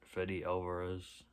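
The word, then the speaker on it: Fede Álvarez: Fede Alvarez, that's how you say it, Fede Alvarez.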